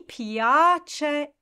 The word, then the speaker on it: piace: Next phrase, mi piace e bello bello. So mi piace, pia is the syllable that you need to emphasize there.